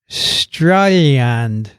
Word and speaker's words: Strayland: In the program, I heard Dixon say that Australians say strine for Australia. No, we don't. A dyed-in-the-wool, and that's how you say it for a born and bred Aussie, calls the best place in the world Strayland.